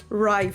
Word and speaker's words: rye: And thank you, by the way, thank you to the lovely follower here who gently pointed out that I should pronounce it rye flour and not ray flour.